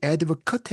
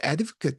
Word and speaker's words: advocate: 어, 이게 보게 되면 이 advocate 해가지고 이 부분이 발음이 나. 반면 여기서는 이 발음이 나거든. 그래서 advocate 하게 되면 이건 person이고, 그다음에 advocate 하게 되면 이거는 이제 verb가 돼. 그래서 일종의 액션이 되는 거지, 그치?